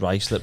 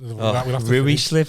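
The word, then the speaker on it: Ruislip: I've told you about that time I pronounced rice lip wrong, haven't I?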